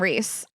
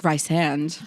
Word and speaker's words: Rysand: I call him Reese. Yeah, Reese You call him Rice. Rysand? Well, I listened to the audiobook at a point so I could get the pronunciation, and I think it's like Rysand.